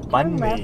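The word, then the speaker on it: Bánh mì: Right now, we're gonna get some Bahn Mi. It's pronounced Bahn Mi, to be precise.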